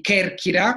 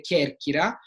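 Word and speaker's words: Κέρκυρα: hanno fatto notare come non pronunci bene alcune sillabe, come per esempio io dico che e chi, quindi Kerkira, lo dico sbagliato, Kerkira, che significa Corfù, in realtà bisogna dire Kerkira, e quindi ho le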